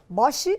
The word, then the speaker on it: Bosch: Bos, né, como se fala, Bosch Sistemas.